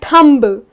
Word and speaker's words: thumb: They will go like Thumb. It’s not Thumb, you gotta correct them. The correct pronunciation is Thumb. The letter B is silent.